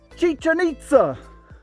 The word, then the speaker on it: Chichen Itza: okay here's my question what rhymes with chicken pizza chichen itza we may be there